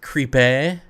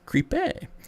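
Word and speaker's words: crêpe: It's really actually pronounced crepe. It's French, so it's crepe.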